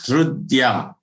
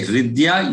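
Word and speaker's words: हृद्य: Here it is Hrudya. You can say Hridya, you can say Hrudya. Both are acceptable.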